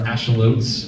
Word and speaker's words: axolotl: What was Bill and the axolotls, or axolots, if you want to pronounce it correctly?